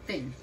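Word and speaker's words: Fen: I thought his name was Falcon. But no, it's Finn. F-E-N.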